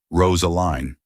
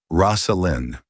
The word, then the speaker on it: Rosalyn: And my name is pronounced Rosalind.